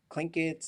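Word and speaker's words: Tlingit: lingits and so but politically now it is spelled with the t pronounced with the k and there's that's tied to like whole there's whole organizations clinkets every there's all kinds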